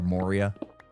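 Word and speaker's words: Moorea: There's a reason why I liked Maria so much in the French Polynesian islands or Moria as I'm supposed to pronounce it.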